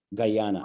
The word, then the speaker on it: Guyana: Guyana, I never know how to say it.